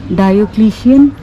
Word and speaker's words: Diocletian: So the palace of, how is it pronounced? Diocletian.